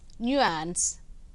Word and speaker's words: nuance: r honor next n n c observe the pronunciation this is a noun Nuance nuance and n u a n c Nuance